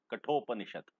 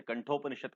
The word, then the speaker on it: कठोपनिषद: लिया गया वाक्य है, कठोपनिषद। कुछ लोग इसे कंठोपनिषद कहते हैं, गलत है। कठोपनिषद इसका सही उच्चारण है।